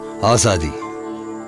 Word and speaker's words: azadi: Azadi.